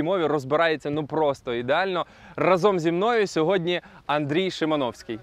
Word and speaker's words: разом: Разом зі мною сьогодні Андрій Шимановський. Чекай, я почув неправильний наголос. Ти мав на увазі разом?